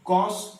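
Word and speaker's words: cos: Okay, तो कॉस कॉस, कुछ बच्चे इसको खस खस खस खस बोलते हैं, खस खस नहीं है ये, this is not, this is कॉस कॉस।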